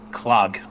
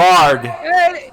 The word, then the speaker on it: Clarg: Chief Clog, I'm guessing is how you say that. Clog? Clog. Yeah, I'll write it in the chat. There you go. Clarg. It's Clarg. Is the last name Kent?